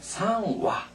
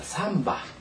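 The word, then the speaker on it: 三羽: 그다음 두 마리는 니와 세 마리는 상화 상화 또는 화라고 있기도 하고요 세 마는 바라고도 있습니다 자 삼바 삼바 상화 상화 어느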